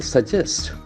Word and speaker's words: suggest: suggest that is bit Accent on the second syllable suggests suggest suggest beautiful chill sounds to sounds